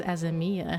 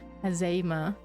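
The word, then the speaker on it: Azeyma: I always pronounce it as Azemia, I realize. Azema, and the divine lover of Oshon.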